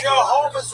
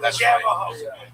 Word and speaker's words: Jehovah: Jehovah's Witness, not Javaho. Learn how to pronounce Jehovah God's name.